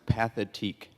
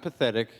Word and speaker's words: Pathétique: Ludwig von Beethoven, and it's pronounced pathétique. So it's not pathetic.